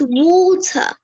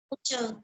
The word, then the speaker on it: water: like that for example the a sound is pronounced like the o sound in British let me give you